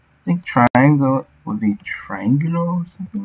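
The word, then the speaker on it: triángulo: think triangle, would be triangulo or something like that? Yeah, like this. Triangulo. With an accent on the A.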